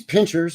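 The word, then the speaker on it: Pincher Creek: at this location these Pinchers or pincer it's spelled pincers here but the town is spelled pincher because that's how it's pronounced Pinter Creek but anyway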